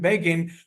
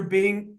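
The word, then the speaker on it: Begin: under the terrorist manim beIN whose name rhymes with Fagan uh those of you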